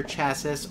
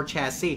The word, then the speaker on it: chassis: call it the monitor chasis or chassis Tim we pronounce it both ways I know people have